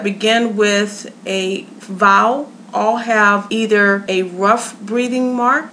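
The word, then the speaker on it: ὁ: And rough breathing has the h sound. The way that you pronounce this word is ha.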